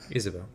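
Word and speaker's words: Ysabel: he killed was it isabelle young y-s-a-b-e-l oh is that how you pronounce it isabel yeah well i pronounced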